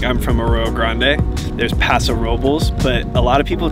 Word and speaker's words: Paso Robles: from Arroyo Grande there's Paso Robles but a lot of people try to say it with a Spanish accent so it's like Paso Robles and it's not that